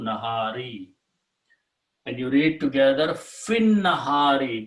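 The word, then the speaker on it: في النهار: And you read together fin nahari, because lam was not pronounced to begin with, but now you do not pronounce this ya or alif.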